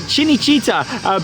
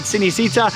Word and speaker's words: Cinecittà: to Cinecittà World, and I think that's more how you pronounce it, like Cinecittà, based on the announcement. I've always said Cinecittà, and I know a lot of people that do as well, but yeah, it does seem like that Cinecittà is the way that you pronounce this one.